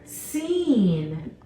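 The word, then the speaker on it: سين: next set of twins we have the letter scene scene scene did you see how I drew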